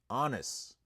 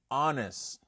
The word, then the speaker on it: honest: Honest. Honest. Honest. All right, that's the the the H is silent.